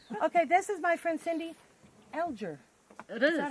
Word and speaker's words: Cindy Alger: Okay, this is my friend Cindy Alger. It is. Is that how you pronounce Yep, your that's how you say my name.